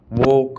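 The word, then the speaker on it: walk: एल के में एल हमेशा साइलेंट रहता है स्पेलिंग के लास्ट में जैसे टोक अब इसको टोलक थोड़ी बोल रहे हैं अपनी वोक टोक चोक काम कालम नहीं काम ये तो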